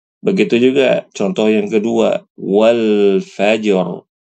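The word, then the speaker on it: والفجر: juga contoh yang kedua walfajr walfaj walfajr ada huruf rnya tebal Jangan dibaca wal faaj wal faaj wal faajar wal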